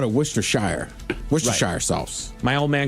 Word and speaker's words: Worcestershire: It says it's actually pronounced Worcestershire. Worcester, like it's in Boston.